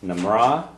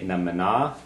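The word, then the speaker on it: mná: You can say na mna mna or na mra. A lot of times n is pronounced depending on where you are it's pronounced like an r when it's next to another Okay.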